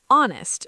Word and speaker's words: honest: You say honest. That's why we say an honest person, not a honest person.